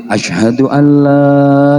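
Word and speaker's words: أشهد أن لا: akbar Ashadu Alla ilahaillallah Nah itu bacanya la panjang jadi Ashadu Alla gitu panjang jangan Ashadu Alla ilahaillallah jangan gitu lanya panjang Ayo diulang Heeh Ashadu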